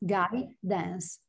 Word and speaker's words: guidance: yeah guys dance yes guy dance okay guidance um this is the root word the root word is guide so you start with guide guidance yeah guidance perfect